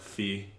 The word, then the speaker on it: phi: thought was interesting because it kind of sounds like pi, but it's phi.